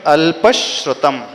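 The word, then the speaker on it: अल्पश्रुतम्: श्र बना है श्रीमान तो अल्प के बाद एक्स्ट्रा स्लाइट स का उच्चारण आएगा क्योंकि आगे स है अल्प शतम ऐसे पढ़ेंगे उ कैसे पढ़ेंगे अल्प श्रुतम अल्प श्रुतम श्रुत वतामु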